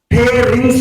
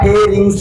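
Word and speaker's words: pharynx: फेरिंग्स में जाता है। फेरिंग्स में।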